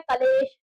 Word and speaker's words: क्लेश: शब्द क्या होता है, क्लेश, क्या होता है, क्लेश। तो आज से अगर आप कलेश या क्लेश कुछ भी बोलते हैं तो उसको सही उच्चारित करिए, क्योंकि सही उच्चारण करेंगे